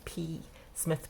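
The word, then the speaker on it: Psmith: There's a P Smith, but the P is not pronounced.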